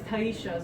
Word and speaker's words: Tyesha: The way the Korean accent is kind of smooth. So it's Taisha, so it's Taisha, because we divide it in syllables.